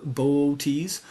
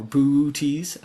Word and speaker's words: Boötes: It's at least dark enough to see more of the shape of Boötes or Bootes, always a tricky one for me to pronounce.